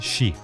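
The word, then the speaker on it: 四: death in Japanese culture four in Japanese is pronounced she which also means death this Superstition is incredibly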